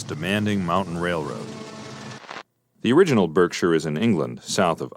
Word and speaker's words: Berkshire: The original Berkshire is in England, south of Oxford. The English pronounce it Berkshire.